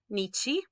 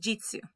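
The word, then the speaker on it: 日: cannot change it all right so this is pronounced nichi sometimes is pronounced he sometimes is pronounced ka sometimes it's pronounced jitsu and it's going to depend basically on what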